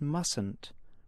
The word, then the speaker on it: mustn't: repeat this sentence and notice how you pronounce mustn't with only one sound I must practice English